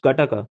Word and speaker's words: GATTACA: It is pronounced Gataka.